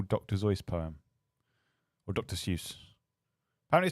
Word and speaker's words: Seuss: Seuss is I will never pronounce it Dr. Zeus and not feel dirty. Although actually, apparently he claimed Dr. Seuss because people pronounced it that.